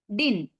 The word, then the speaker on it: didn't: ഡിഡിന്റ് come എന്നുള്ളതിനെ നമുക്ക് കുറച്ചും കൂടെ ഇംഗ്ലീഷിന്റെ ഉച്ചാരണം കറക്റ്റ് ചെയ്യാൻ വേണ്ടിട്ട് ഡിഡ് ഉണ്ടല്ലോ, DID, അതിലെ എഴുതുമ്പോ എഴുതണം. പറയുന്ന സമയത്ത് രണ്ടാമത്തെ ഡി ഒഴിവാക്കിയിട്ട് ഡി വരെ പറയാ. പിന്നെ ഇൻഡ് എന്നുള്ളതിലെ ടി ഒഴിവാക്കുക. അപ്പൊ ഡിൻ അത്ര മാത്രം കേട്ടാൽ മതി.